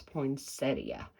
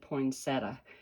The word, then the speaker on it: poinsettia: The proper way to say it is poinsettia. And, you know, we grew up for years and years, we said poinsettia. And so even now, I find myself defaulting back to the improper way to say poinsettia.